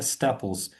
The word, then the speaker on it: staples: prohibited– запрещенный, schedule– расписание, staples, right? Staples. Staples, Yeah, one more that's time. got a long A sound. A. Staples.